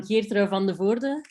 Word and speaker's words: Geertrui van de Voorde: So I'm Geertrui van de Voorde. That's how you pronounce it.